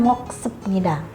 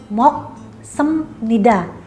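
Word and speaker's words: 먹습니다: semnida ingat di sini ada perubuhan bunyi juga ya BAP ketemu m jadinya m Jadi moksemnida bukan moksepnida jadi an moksemnida tidak makan Nah lalu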